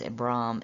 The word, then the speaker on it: Abram: written in greek is abram and it's a brahm with two a's the reason it's got two a's is that means a long a sound it doesn't mean that